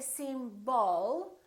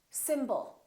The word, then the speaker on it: symbol: we have two syllables the first syllable is stressed and the second syllable is reduced when we have a reduced vowel we don't pronounce it fully we don't say sim ball we reduce it and